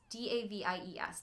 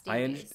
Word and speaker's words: Davies: No, it's D-A-V-I-E-S, Davis. I understand that's how it's spelled, but I think some people I heard pronounce it Davis. Okay, so I've only ever heard Davies before.